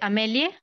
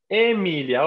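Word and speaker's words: Aemilia: Amelie? Emilia, óptime. Emilia. Emilia. Recuerden que la AE se une y se dice E, ¿sí? Al menos en la pronunciación eclesiástica o itálica, ¿no?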